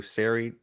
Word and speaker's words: Sary: And next we'll go to Sary Chakra. And I do appreciate, I do believe in your questionnaire for the election hub, you did say that your name is pronounced Gary, but with an S.